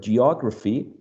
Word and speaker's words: geography: dot here g r all right so there should be one two three four syllables and obviously the second one because we can see the um primary stress uh right before the second syllable the second syllable should be the stressed one the most uh prominent